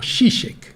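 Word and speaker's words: Žižek: no son disque ya no son comunistas como shishe le dicen shishe se escribe tiek entonces shish aparece edita un libro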